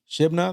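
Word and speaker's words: Shebna: you got Elliot Kim you got you know Shibna that's how you pronounce his name you know uh all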